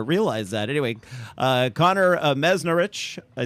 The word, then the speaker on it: Meznarich: you're not the first one uh it's Connor meznarich meznarich I should have asked you that prior to the show and this isn't our first meeting I just didn't uh realize that anyway uh Connor meznarich I said that perfect welcome to Market Fresh